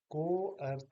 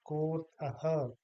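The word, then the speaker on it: कोऽर्थः: बन जाता है तो इसको हम को अर्थ नहीं कहेंगे, बल्कि कोर्थः।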